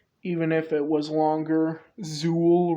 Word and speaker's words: Zuul: if it was longer Zuul really rhymes with Jewel citacosaurus another early topsid